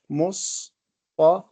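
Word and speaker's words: مصطفى: Mustafa. So it is not with an alif. It is pronounced an alif, but written in this form. This is called alif maqsura.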